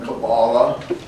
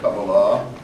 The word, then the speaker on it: Kabbalah: They often are interested in what is now popularly called Kabbalah, pronounced by some Kabbalah, but I think the pronunciation is Kabbalah.